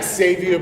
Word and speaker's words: Xavier: is my name is xavier books my granny pronounced it with an x she named me after